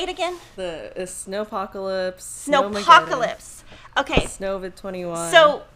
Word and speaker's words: Snowpocalypse: pre-order date ends, but it came in during snowcopolis, or I don't know how to say it, people. Say it again. The Snowpocalypse.